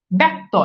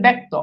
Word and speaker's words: ব্যক্ত: যেমন খেয়াল করে দেখেন, অর্থাৎ এখানে এই জিনিসটা বলছে যে খেয়াল করে দেখেন, ব্যক্ত, এই যে দেখেন ব্যক্ত অর্থাৎ জফলা যুক্ত যখন থাকে তখন সাধারণত এই জায়গাতে দেখা যাচ্ছে যে আকার চলে আসতেছে।